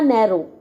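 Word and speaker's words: narrow: letter underline करने जदा नैरो नैरो आप डब्ल्यू नहीं बोलते है ना नैरो बोलते हैं है ना लेन एल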